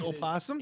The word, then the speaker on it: opossum: a possum what opossum then you are mispronouncing oh really it's opossum and opossum i didn't know